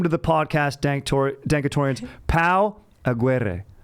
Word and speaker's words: Pau Aguirre: true artist welcome to the podcast dank dankertorians pal aguerre how is that pronunciation uh it sounds good you do well